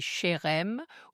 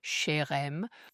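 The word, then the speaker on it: חרם: C'est Chérem, ou certaines personnes disent Chérem.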